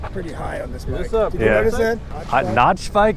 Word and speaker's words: NachBike: Notch bike. That's how I pronounce it. Nacho bike, dude.